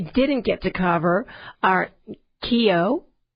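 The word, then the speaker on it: Cayo: All right, so the 5 that we didn't get to cover are Kio, and that is spelled C-A-Y-O, Belize, and this is how they pronounce them when we went to the websites or on the Internet.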